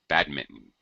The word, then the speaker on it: badminton: Americans, though, we tend to drop the N and just say badminton, like the N doesn't exist.